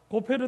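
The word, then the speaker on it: גֹּפֶר: 이 발음만 사용해서 문장을 작성해 보면 이렇습니다. 올려주십시오. 같이 읽어볼까요? 시작. 고페르 나무로 방주를 만들고 코페르로 안팎을 카파르라가 됩니다.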